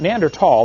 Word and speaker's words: Neanderthal: don't know the neanderthal Neanderthal the H is silent Neanderthal man is named